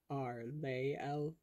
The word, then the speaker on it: Arlael: Um, and that name is Ar-, um, Arlael, um, pronounced "Ahr LAY ehl--" um, that's just so I have an excuse to spell it phonetically in the captions.